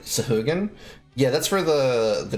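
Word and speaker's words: Sahuagin: If I recall correctly, the proper pronouncing is like sahugan.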